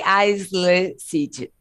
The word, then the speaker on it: aisle: A lot of people say aisle seat. No, the S is silent. So aisle seat. Pretend the S is not there, okay? It's a silent S.